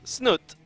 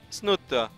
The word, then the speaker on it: Snute: as the blue Zerg it is snot or as the one guy on Twitter really wants me to pronounce it snut snut if I don't do that he gets very mad at me he's like man that's not how you say it I'm Norwegian I